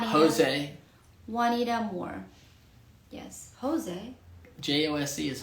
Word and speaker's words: Juanita: says juwan that's not juwana because this is this is a spanish name oh j it becomes um like an h like a w or a like juanita one jose juanita moore yes jose josc